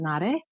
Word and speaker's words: Na-Rae: the screen card voices in Korean my name is pronounced at na day and I have had